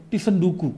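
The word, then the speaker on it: 積ん読: La pronunciación de esta palabra es "tisan dooku".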